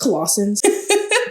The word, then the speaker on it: Colossians: Today we have, is it pronounced Colossians?